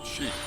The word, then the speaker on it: chic: Chic not chic because ch in French sounds like sh. Chic is how you say it. Chic. Very chic. Thank you, interesting voiced man on the internet. Chic.